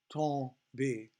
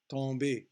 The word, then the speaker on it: tomber: So you do not pronounce the M again.